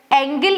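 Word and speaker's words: angle: Energy चेंज genuine GeM अब ये देखो एंजल लिखा हुआ है ए एन जी ई एल एंजल यहां पे जी को ज पढ़ा जा रहा है बट बट एंगल अगर हमें लिखना हो तो हम ऐसे लिखते हैं एंगल। तो ये लगभग स्पेलिंग है बट यहां पे जी को ग पढ़ा जा रहा है। क्यों? क्योंकि इसके बाद ई आई वाई के अलावा कोई अल्फाबेट आया है इसीलिए।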